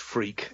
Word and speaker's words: Freke: Is it Freak or Frakey or? Yeah, great question. It is actually pronounced Freak. It's an old West Country name, and that's what I grew up with, being called Freak.